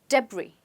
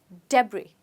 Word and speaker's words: debris: let's find out so which letter is silent quite easy it's s we don't say the S we say debris let's try it again debris okay so debris are